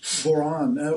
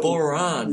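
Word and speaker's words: bodhrán: How do you pronounce the name, Kyle? Bodhran. Bodhran.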